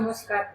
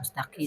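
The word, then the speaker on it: مستطيل: ya kalau mustatil apa mustaqil sembunyi bukan mustatil itu lonjong Iya jadi mustaqil mustatil bukan mustaqil mustatil pakai thtil g jadi sifat mustatil itu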